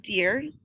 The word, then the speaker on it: dear: Now this is a tricky word because it's written with an EA, and the EA makes it E sound. Dear Kate, and it's pronounced deer just like the forest animal.